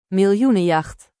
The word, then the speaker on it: Miljoenenjacht: Do they say the J like yeah? I think they do. Millionenjacht. Miljoenenjacht.